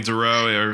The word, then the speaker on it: Dorough: Yeah, Howie Dorough.